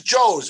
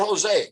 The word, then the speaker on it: Joes: It is Joes. It's not Jose, correct?